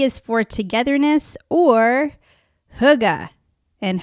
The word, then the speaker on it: hygge: is for togetherness or Hugga and Huga is spelled h-y-g-g-e and I would have had no idea how to pronounce it but it tells you how in the book Thank you so hyga this is a little bit